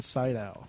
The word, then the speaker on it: Sydow: van Sydow.